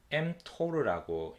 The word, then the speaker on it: mTOR: 그 다음에 두 번째 mTOR라고 읽습니다.